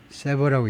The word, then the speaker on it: sever: and said 그리고 호주가 말했습니다.이어서 뭐라 그랬냐면 it wasing diplomatic ties sever 세버라고 읽습니다.